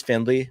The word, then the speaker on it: Findlay: It has the nice level of like, people don't know exactly how to pronounce it. Is it Findlay? Is it Findlay? Is it Findlay? It is Findlay, according to my grandma.